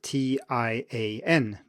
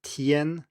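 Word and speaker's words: 天: day and that is spelled t i a n but it's pronounced tien it is not pronounced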